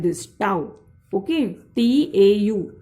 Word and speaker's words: tau: See, it is like this, tau. Okay, T-A-U. Tau is the pronunciation of it. Okay, Greek pronunciation.